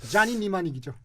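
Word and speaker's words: Johnny Mnemonic: 뭐 무슨 자니 니마닉이죠. 어이구야 깜짝이야. 앞에 P는 묵음입니다. PN 이렇게 되는데 자니 니마닉이라고.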